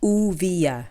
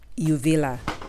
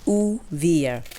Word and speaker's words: Uvilla: So guys, I did some further research and the correct pronunciation of this fruit is Uvilla, not Uvilla. It's Uvilla.